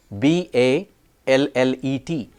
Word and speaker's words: ballet: languages this has resulted in a patchwork of pronunciation rules and exceptions b a l l e t a dance form in French is pronounced ballet